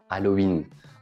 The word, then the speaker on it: Halloween: en français on prononce halloween on ne prononce pas le h très bien alors c'est